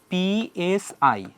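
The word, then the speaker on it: psi: আকারে ঘুরতেছে বিভিন্ন শেপে, সেই যে ইলেকট্রনের গতিপথ, সেই গতিপথের যে বিস্তৃতি, মানে গতিপথটা আসলে কেমন, সেই ফাংশনটা হইল সাই। এটার উচ্চারণ হবে পিএসআই, হ্যাঁ, বাংলা উচ্চারণটা হবে সাই।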